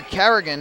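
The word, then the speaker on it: Carignan: The pitcher Carrigan is spelled C-A-R-I-G-N-A-N. That first N, though, is silent, so it's like it's not even there. Carrigan.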